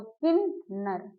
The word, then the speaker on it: किन्नर: हमारा अनुस्वार में जाएगा लेकिन उसका उच्चारण ना में होता है, तो किन्नर, क्या हो गया, किन्नर, ये आपने सीख लिया।